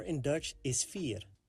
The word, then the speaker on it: vier: 4 in Dutch is vier. The beginning is pronounced like the English letter F, and the ear sounds similar like the last part of the word volunteer, the ear sound. F and ear.